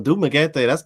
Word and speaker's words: Dumaguete: How do you pronounce the one start with a D? Dumaguete? Not well, Dumaguete.